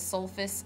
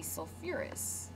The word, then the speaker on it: sulfurous: Again, remember sulfur adds that extra syllable on there. So this would be instead of sulfous acid, it would be sulfurous acid.